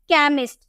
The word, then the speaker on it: chemist: उसी तरह से CHEMIST, सी के बाद आपको एच देखने को मिला तो इसे हम कॉ में प्रोनाउंस किए केमिस्ट। केमिस्ट हम इसलिए नहीं पढ़ेंगे, हम बोलेंगे केमिस्ट, ठीक है, केमिस्ट।